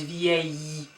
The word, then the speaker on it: vieille: And the feminine version is vieille. So it's vieille, and the long E at the end. Vieille, vieille. So please don't pronounce this L here, yeah? So it's not vielle, but it's vieille.